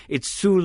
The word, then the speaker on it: Soule: Charles Soule. It's Soule. It's Soule. It's a little bit of maybe French, and it's Soule. That's how it's pronounced.